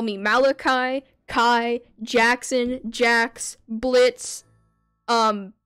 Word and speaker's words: Malachi: right my name is Malachi so when you're pronouncing the last half of my name think of it as if you're saying my full name so Malachi Kai that might help a